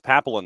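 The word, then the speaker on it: Papillion: Has he figured out how to pronounce Papillon, Nebraska yet? Because it took me forever. I used to say Papillon, Nebraska just because of the movie, but apparently it's Papillon, Nebraska, and I learned that the other day.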